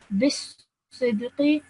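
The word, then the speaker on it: بالصدق: This alif over here and this lam over here are both silent letters and will be dropped. So straight away you join the ba to the sad. Bisidqi.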